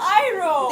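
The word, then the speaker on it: Iroh: right they mispronounced Katara Uncle ero man Uncle ero it's Uncle iro they didn't St they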